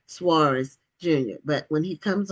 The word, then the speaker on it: Soaries: Yeah, the very sophisticated, high class, well educated folks say Suarez, but most common folk just say Soaries.